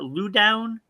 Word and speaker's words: Loudoun: Is that how they pronounce that? Loudoun?